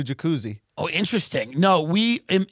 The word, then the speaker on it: Jacuzzi: been good it's a jacuzzi hey there's bigger pools did you know people did people pronounce it jacuzz um or did they do jacuzzi oh interesting no we